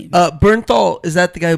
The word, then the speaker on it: Bernthal: Oh, John Mththal. Bernthal. He's fantastic. He is director Ronaldo Marcus Green. Have you guys ever What a great middle name. Uh Bernthal.